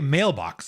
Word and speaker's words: mailbox: Um, I do not know, but I do know that there are two stressed syllables in mailbox. Okay, mailbox. It's not mailbox, it's mailbox. We stress both of those syllables.